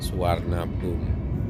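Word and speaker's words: Suvarnabhumi: spellingnya adalah suparna bumi tapi untuk orang Thailand mereka spellingnya adalah warna bom jadi i nya itu tidak dibaca kemudian huruf v nya itu dibacanya adalah Sebentar lagi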